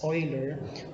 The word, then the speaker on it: Euler: the swish mathematician leonard euler so this is pronounced or read as euler who created the diagram in 1770s it is